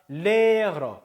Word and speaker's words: Lehrer: 자, 하 모음 뒤에 하가 붙어 있으면 모음을 길게 발음만 되었으니까 Lehrer 그쵸? Lehrer 그쵸?